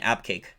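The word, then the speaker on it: Abqaiq: AB cake thank you for messaging either correct pronunciation AB cake got it right this time that along with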